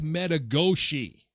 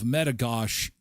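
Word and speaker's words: Metigoshe: It's called Lake Metagosh. The Americans call it Lake Metagosi because they're not French. Well, neither are we. But we we have French people here. So, we use the French pronunciation of Metagosh.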